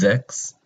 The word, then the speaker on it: sechs: Next is sechs. Make sure to pronounce the S as a Z, so you don't pronounce something else that means something else.